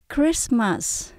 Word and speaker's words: Christmas: Christmas là giáng sinh chữ ch C và H chúng ta không đọc là âm ch mà mình đọc là âm C các bạn nhé CR Cris mình có